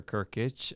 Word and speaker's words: Kirkitch: Kirkitch. I like Captain Kirk has an itch is how you pronounce it, but my first name is.